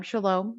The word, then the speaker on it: Shalom: And everybody, if you can see her there, her name is Shalom, just the way it sounds, the way you spelled it, right?